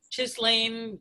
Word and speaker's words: Ghislaine: It's like Ganesha. It's Ghislaine Maxwell.